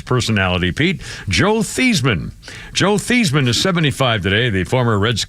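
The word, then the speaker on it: Theismann: think he did and the reason they changed his name pronunciation was Heisman Theisman as and Heisman but his real name is theeman Siri did Joe Theisman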